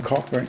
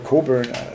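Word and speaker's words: Cockburn: a little quote from cochburn cochburn or Coburn actually the correct pronunciation he he was um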